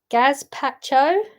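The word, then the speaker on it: gazpacho: said it wrong completely does that help no G Pacho g a z p a c h o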